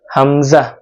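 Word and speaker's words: ء: তারপর হরফ হলো হামজা। হামজা উচ্চারণ করতে হবে গলার শুরু থেকে, আওয়াজটা ভিতর থেকে আসবে। হামজা হামজা হামজা হামজা হামজা।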